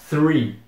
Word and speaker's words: three: esse th e falar three como se fosse se não como se não tivesse o th como se fosse só o TR mas isso tá errado pessoal TRE significa árvore tem nada a ver com três você tem que fazer aquele som de TH assim e seguir o r então é three three three isso não tem muito